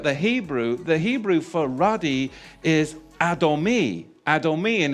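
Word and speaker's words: אדמוני: Because when you look at the Hebrew for ruddy is Adomi. Adomi, and it's spelled Aleph, Dalet, Mem, Nun, Yod.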